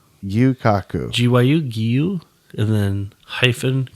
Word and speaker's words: Gyu-Kaku: And we're going to be talking about a restaurant today, which is pronounced Gyu-Kaku. Gyu-Kaku.